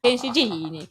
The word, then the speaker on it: Faggin: And if you listen to Jason's pronunciation, you hear he knows Italian. Faggin. Yes. Northern Italian, by the way.